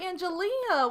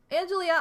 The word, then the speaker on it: Angelia: whenever we raid anybody, no one says your name right. Like the only reason I know I'm saying it right is because you've said that I'm saying it right, and every time we raid somebody, they're like, alright, Angelia, Angela, Angel, and I'm like, oh my god.